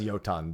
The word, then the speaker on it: Jotun: Yeah, it's pronounced Jotun, but I just call them Jotuns.